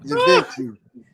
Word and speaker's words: Givenchy: or as you put or as you properly pronounce it Givenchy gentlemen very nice sin very masculine it